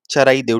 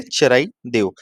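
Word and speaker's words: Charaideo: सी एच ए चराई देव। ठीक है? सी एच ए आर ए आई ठीक है? चराई देव। चराई देव जो है यहां पे ये वर्ल्ड हेरिटेज साइट है।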